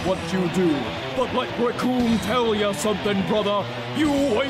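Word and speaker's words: Recoome: to this man, because the name's Raccoon, and it rhymes with doom, and you're gonna be hurting.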